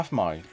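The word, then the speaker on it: Aphmau: Yeah, Afmau. But it's spelled APH.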